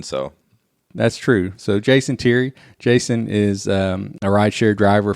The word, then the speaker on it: Thierry: It's teary, like teary-eyed. Thierry. Okay, Thierry. You'd think I'd know that by now. Yeah. Well, you don't say it often, so. That's true. So Jason Thierry.